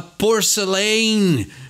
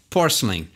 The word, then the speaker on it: porcelain: Então, o nosso impulso brasileiro é falar porcelain, né? Então, querer pronunciar tudo com aquele vigor, e geralmente é isso que faz com que o nosso inglês pareça mais amador, né? Mais básico. Então, um jeito bom de pronunciar é saber quais letras não enfatizar. Então, presta atenção, bem como o Anthony fala aí, porcelain. Então é um jeitinho bem mais suave, né?